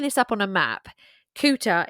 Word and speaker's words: Culter: up on a map, Cooter is actually spelled Coulter, Culter. Now, I don't know if this is a pronunciation thing because of the Scottish accent, but it's actually said as Cooter as far as I could work.